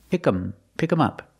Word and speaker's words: pick him up: Again, with him, we hear the sound pick 'em up.